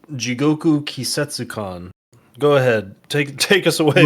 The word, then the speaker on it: Jigoku Kisetsukan: Thomas, would you like to pronounce the words? The game's called Jigoku Kisetsukan.